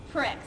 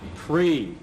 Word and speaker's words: Prix: how you say it I was saying it like it's spelled Pricks huh that's a whole other contest pre it's French yeah but I'm not